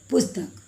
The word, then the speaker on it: पुस्तक: यानी ये जो पू है इसको कम समय के लिए बोलते हैं, तो इसका उच्चारण क्या होगा? प उ पू, आधा स त क, पुस्तक।